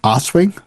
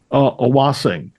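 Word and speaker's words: Awosting: Danielle, Witch in the Wilderness, did Mossy Glen to Lake Oswing. Is that how you say it? Owassing. Owassing. Yeah. Forget the T.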